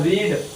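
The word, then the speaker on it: read: Subject has ही, और रीड पढ़ना की रीड है तो रीड की थर्ड फॉर्म क्या होती है रीड, रेड और रेड होती है। ध्यान रखना स्पेलिंग सेम होती है, उच्चारण अलग होता है।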